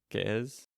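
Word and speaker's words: Ge'ez: You did pronounce that wrong, but it's not for the life of me. Can I remember? Uh, it's Ethiopian, basically. Yeah. Gez? I don't know. It's not Gizi.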